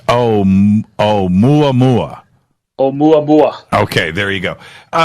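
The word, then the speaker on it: ʻOumuamua: I just been corrected on my pronunciation. Karen says it's Oumuamua.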